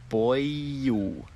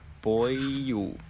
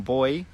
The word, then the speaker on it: boil: Boil. Boil. Stop saying boy, it's wrong.